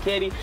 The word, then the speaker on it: CADD: It's your boy CADD, pronounced Katie, and normally City.